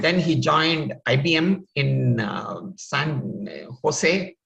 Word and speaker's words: San Jose: And then he joined IBM in San Jose or San Jose, as you see pronounced in India.